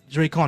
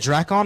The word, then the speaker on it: Dracon: in the chat uh Dre con am I saying that right gotcha is it is it is it draon or dracon Dron you said it right dracon all right gotcha all